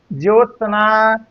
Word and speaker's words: ज्योत्सना: ज्योत्सना, ज्योत्सना जैसे उच्चारण हम कर रहे हैं वैसे ही लिखा गया है, इसलिए आपका ये तीसरा ऑप्शन बिल्कुल सही है।